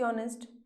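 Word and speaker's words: honest: spelling कैसे लिखा हमने एच ओ एन ई एस टी ऑनेस्ट लेकिन एच क्या है एच तो साइलेंट है हम लोग नेस्ट तो नहीं बोलते हैं ना हम लोग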